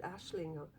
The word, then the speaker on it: Aisling: This was that Aisling, or Ashling, somebody said you pronounce it Ashling.